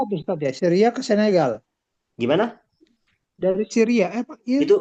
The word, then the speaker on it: Senegal: Sanigol, bacanya Sanigol. Tapi bacanya Senegal, Senegal aja.